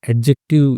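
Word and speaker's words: adjective: है तो ऐज़ एन एडजेक्टिव यूज़ हुआ ठीक है? डी साइलेंट होता है।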